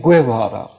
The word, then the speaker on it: Guevara: Guevara is an architect. I think you mean Guevara.